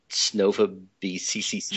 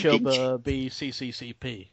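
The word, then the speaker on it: Снова в СССР: has a Russian title, which I believe is pronounced Choba B CCCP. Choba B CCCP.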